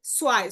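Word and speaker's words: zwei: আর সেট সোয়াই, সোয়াই মানে হচ্ছে দুই।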